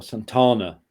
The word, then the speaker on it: Santana: can't imagine him singing it awesome Tanna or Santana to pronounce it correctly it's all torn and John's